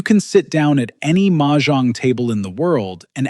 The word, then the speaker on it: Mahjong: So Mahjong, and by the way it's pronounced Mahjong, not Mahjong.